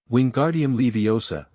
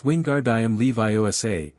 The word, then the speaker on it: Wingardium Leviosa: Wingardium Leiosa, he shouted, waving his long arms like a windmill. You're saying it wrong, Harry heard Hermione snap. It's wingard Levi OSA. Make the gar nice and long.